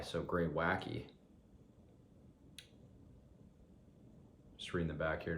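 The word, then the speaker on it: Greywacke: Oh shit, I just realized, just reading the back, it's pronounced Greywacky, so you pronounce that E as a Y, so Greywacky.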